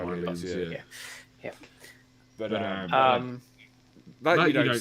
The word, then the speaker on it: Hylians: With PlayStation also sending out "Have fun up there, Hellions." I think that's how you say it. Hylians, I think. Hylians, yeah.